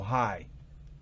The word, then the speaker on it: high: No high, sino high. No se pronuncia esa GH al final. High.